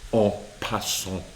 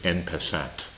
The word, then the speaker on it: en passant: So this is a chance for black to capture en passant, or as often American players say, en passant. But we like to try to use our French pronunciation correctly.